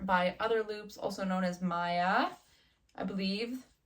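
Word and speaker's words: Maja: Otherloops, also known as Maya, I believe. It's like M-A-J-A, but I believe she's from a Nordic country where the J is pronounced like a ya. So Maya, Otherloops.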